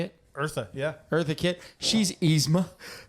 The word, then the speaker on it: Eartha: really want to talk about how the Eartha Kitt, is that how you say it? Eartha, yeah.